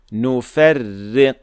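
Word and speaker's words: نفرّق: And so, in this case at hand here, the duplicated ra will then be light, and we say it like so. Nufarriq.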